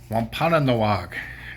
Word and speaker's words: Wampanoag: Wampanoag is how it's pronounced.